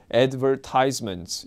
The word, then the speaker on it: advertisement: 이 발음은 보통 advertisements, 여러분들이 제일 많이 알고 있었던 발음이었는데 advertisement라고 보통 British people들은 얘기를 하죠.